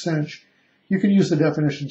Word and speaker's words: sinh: If you're not familiar with the hyperbolic cosine, pronounced cosh, or the hyperbolic sine, pronounced sinh, you can use the